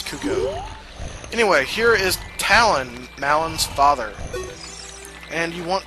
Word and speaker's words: Talon: Anyway, he runs off, and the reason why I'm like 90% sure you pronounce his daughter's name Malin and not Malin is because his name is Talon, not Talon or Talon. So it's gotta be Talon. So I assume they named her Malin because it rhymes with Talon.